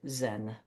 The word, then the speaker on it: Zen: There it mingled with dowoism and confucianism and became a new school of Buddhism pronounced chaen. Later the Japanese pronounced it Zen.